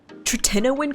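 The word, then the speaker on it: tretinoin: Tininoan cream. Apparently, the correct quote unquote way to pronounce it is teninoan cream. And I'm like, no, that doesn't sound right. I'm going to call it trenan cream.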